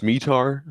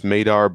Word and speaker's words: METAR: And it's generally pronounced METAR. Some people will pronounce METAR, but I've always heard it as METAR, and I think Krikor has the same. I've heard METAR as well. Okay. So either one of those two is fine.